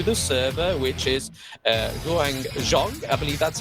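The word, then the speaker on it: Huang Zhong: new Champion to the server which is uh Guang Jong I believe that's how you say his name yep it is hang zong he's is a one of the Fest ranged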